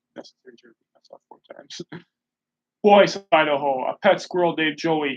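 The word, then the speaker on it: Boise: i'm not gonna breathe voice idaho i think that's how you pronounce it b-o-i-s-c think of this d-o-i-s-c-b-o-i-s-e-o-i-s-e just in case you have trouble hearing me i feel like necessary four times boys idaho a pet squirrel dave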